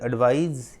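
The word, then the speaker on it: advise: Pronunciation में भी थोड़ी सी अंतर होती है ना, ये एडवाइज, ये एडवाइस, ठीक है, ध्यान रखिएगा।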